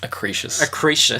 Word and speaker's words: Acrisius: Acrisius. That's how they pronounce it in the movie.